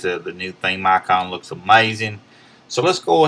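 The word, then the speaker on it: Ayecon: It's called Icon. It's spelled a little differently though. Instead of using the I, they use the A-Y-E. Icon for iPad, and it's by Evasi0n.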